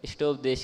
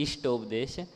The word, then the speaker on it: इष्टोपदेश: थे, जैसे इष्टोपदेश है, तो आप उसको बड़ी ई का उच्चारण कर रहे थे, तो इष्टोपदेश की जगह इष्टोपदेश, तो वहाँ पर थोड़ा वो अजीब सा लग रहा था।